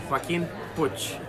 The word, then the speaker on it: Joaquin Puig: Joaquin Puig.